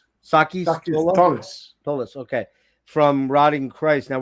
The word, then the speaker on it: Sakis Tolis: How do you pronounce his name? Sakis Tolis.